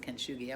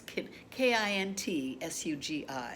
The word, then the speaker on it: kintsugi: It's pronounced kintsugi. I was called the shogi bowl. I knew it was something like that. Well, now since then I found it. It's Kintsugi, kintsugi, and you can Google it and you